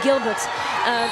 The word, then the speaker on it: Gilbert: Et Gilbert, je vais le prononcer à la française, Gilbert, pour l'équipe de Finlande qui prend le lead.